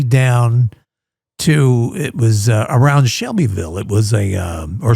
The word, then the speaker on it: Shelbyville: She took me down to, it was around Shelbyville. It was or Shovel, as they pronounce it here.